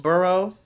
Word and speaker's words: borough: Yeah, it's actually called Bed-Stuy, the city, or the bureau. That's the real. Yeah, Oh. I'm from Dallas. Did you say bureau? Well, how do you say it? Borough.